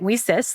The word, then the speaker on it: WiCyS: We often go by our acronym WiCyS, and we pronounce that WiCyS, like we sisters, because we're a global cyber sisterhood.